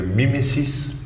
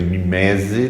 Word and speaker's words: mimesis: Então, mimese é português, o grego é mimesis, o francês é mimese, por isso que algumas pessoas que eu não vou falar pronunciam erradamente em português, dizendo que é mimese, não é mimese, é mimesis, né?